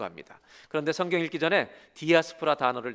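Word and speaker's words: diaspora: 참고로 영어로 읽을 때는 우리 한국말로 디아스포라 그대로 읽지만 그리스 발음으로 영어는 다이아스포라라고 읽는다고 그렇게 알고 있습니다.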